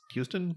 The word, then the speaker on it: Huston: better and and uh angelica it's houston yeah yeah even though it's spelled huston i always want to say austin that's not correct okay go ask her